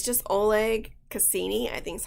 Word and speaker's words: Oleg Cassini: And it's just Oleg Cassini, I think is how you pronounce it.